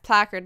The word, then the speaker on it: placard: Picard my first emollients placard placard yes placard that's how you say it so pretty much